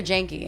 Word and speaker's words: Genki: Genki. Yeah, the crepes. Genki. Rhymes with Kenki. Genki. Is it Genki or Janky?